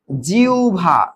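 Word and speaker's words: জিহ্বা: জিবলাইছে জিবলা এটা কি জিবলা হবে আর বটা কিভাবে ভাঙবে বলতো উ যোগ ভ হবে এখানে তাহলে কি হবে জিউভা কালকের ক্লাসের পড়া জিউভা না জিভা না জিবলা জিবলা এরপরে দেখতো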